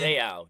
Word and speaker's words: Seau: Seau, Junior Seau.